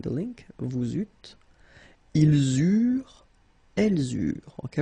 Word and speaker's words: eurent: Okay, remember that when we've got this ENT ending at the end of the plural form, so third person of the plural, you don't pronounce it, so you get eurent. Okay, and then with the